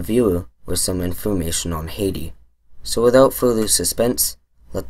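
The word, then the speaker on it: Haïti: In French it is pronounced Haiti, and it is spelled as displayed on the screen.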